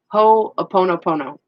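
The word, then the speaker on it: Hoʻoponopono: Ho'oponopono.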